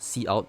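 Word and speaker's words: cout: and then double colon c out okay this is actually pronounced c out like c the the c from c plus plus and out which stands for output and then you need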